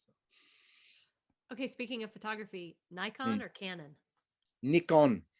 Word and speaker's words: Nikon: Okay, speaking of photography, Nikon or Canon? Nikon, not Nikon. Not Nikon. We're Texans, y'all. I had no We idea say it was Nikon. Well, I know that Nikon. Nikon in America uses Nikon.